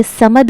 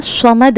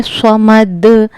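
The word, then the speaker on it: صَمَد: यह समद नहीं है। समद है। स्वाद को पुर करके पढ़ना है। स्वाद हुरूफ-ए मुस्तालिया के सात हुफों में से है जो हर हाल में पुर पढ़े जाते हैं। तो इसको हमने पढ़ना है समद।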